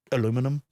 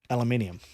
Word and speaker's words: aluminium: does it pronounce it aluminium? I don't know. It's one of the things to Well, how do you say minimum? minimum. Yeah. And it's Minimum. al. Yeah. Yeah. Aluminium.